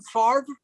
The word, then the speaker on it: Favre: Is that how you pronounce his name? Favre? Yes. Why? No, because they spell it so strangely. Roy, this guy's been in the sports and mainstream zeitgeist for 25 years.